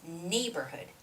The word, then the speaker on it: neighborhood: long for some people it's neighborhood nay has the stress it's neighborhood neighborhood neighborhood okay and the word